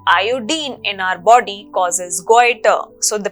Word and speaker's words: goitre: Deficiency disease caused due to lack of iodine in our body causes goiter. So the pronunciation of this particular deficiency disease is goiter.